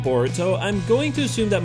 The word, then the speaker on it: Boruto: Naruto's love for ramen boruto is the Japanese pronunciation of the English word bolt this name was most